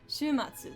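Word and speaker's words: 週末: Just gotta make sure I know how to pronounce this correctly. Shumatsu, that's what I thought.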